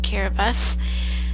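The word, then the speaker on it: Kiribati: to speak is a a island country called kabas it's spelled kabati but the locals pronounce it kabas and this is a island nation in the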